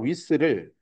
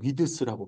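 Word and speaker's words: width: 그러니까 랭스와 위스를 길이 랭스 혹스입니다. 위스 여기 랭스입니다. 내가 써 주는 이유가 제발 저거 위드스라고 발음하지 마요. 정말 콩글리시입니다. 위스. 네. 위드스 아니에요.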